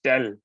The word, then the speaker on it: del: and then this uh other uh symbol is dell. That's how you pronounce it.